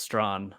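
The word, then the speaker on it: Strachan: his name Mike strong that's pronounced Strawn oh it's not that you you don't say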